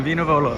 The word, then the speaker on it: Vino Volo: Veno Volo. Veni? Yeah. Take a look again. Veno Volo. Vino Volo.